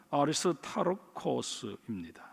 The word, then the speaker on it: 아리스타르코스: 헬라 발음으로는 아리스타르코스입니다.